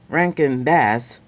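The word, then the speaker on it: Rankin/Bass: this ranged in a certain way and because Rank and bass that's how it's pronounced they first started in 1960 while the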